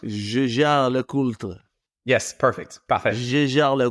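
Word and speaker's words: Jaeger-LeCoultre: is you say it and I say my pronunciation. You were very close. I would say Jaeger Le Coultre. Jaeger Le Coultre.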